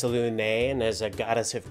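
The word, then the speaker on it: Selûne: Right, okay, Saloon? It is actually pronounced Salune, and as a goddess of creation, I assume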